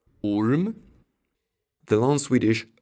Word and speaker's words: orm: However, the short U sometimes sounds like U. This is probably the most inconsistent thing about Swedish spelling. Orm.